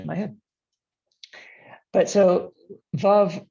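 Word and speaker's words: Veuve: pronounce this and we we worked it out that we rhyme it with love which is my god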